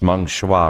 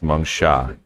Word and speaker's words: Meng Sha: I said, it's Meng Shua, right? And she's like, you're very close, Meng Sha.